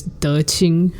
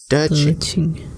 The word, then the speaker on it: De Qing: Her Dharma name is De Qing. So it's DE space QING. So Q is always pronounced like CH. De Qing.